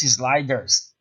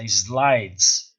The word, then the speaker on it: slides: So you don't pronounce sliders, it's slides, right?